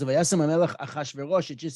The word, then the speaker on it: Achashverosh: If you just add an "a" before, which would make it easier for a Semitic person, a Hebrew speaker, to pronounce it, it's Achshayarsha, Achshverosh. There it is, Achashverosh.